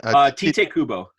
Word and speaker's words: Tite Kubo: Tite Kubo.